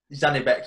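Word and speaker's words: Zhanibek: So the semi-finals, Mo, please, can you pronounce this guy's name? Tennis big something, yes. Zanibek, yeah, that's it.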